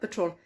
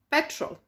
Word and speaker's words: petrol: by saying patrol patrol it is not patrol it is petrol right honey petrol it's